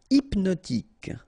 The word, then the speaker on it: hypnotique: Hypnotique. Remember, at the end, Q-E, K, tic. So, H is not pronounced.